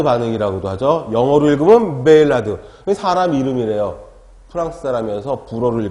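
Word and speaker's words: Maillard: 진하게 한번 보는 거예요 자 첫번째가 마이 r 발음 한글로 썼지만 다 아시죠 매일 나도 많은 이라고도 하죠 영업을 그건 매일 아드 사람이름 이래요 프랑스 사람에서 불어를 고마 이야기 된다는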